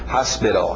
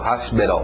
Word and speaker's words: hospital: Alright, college, hospital, hospital, com P, mas a pronúncia rápida acaba descendo para a garganta e aquele P vira um B, hospital, hospital, você vê beral, beral, T virando D, beral, hospital, ok?